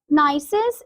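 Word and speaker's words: gneiss: rock is is NCIS here the g is silent in this word okay nysis is a metamorphic rock formed from granite and it has irregular irregular bands of different colors so this niis is a type of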